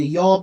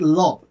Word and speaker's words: Yob: need to say this, I said Lob, it's not correct, it's Yob, because I heard the pronunciation here, and hopefully I'm pronouncing it correctly, Yob.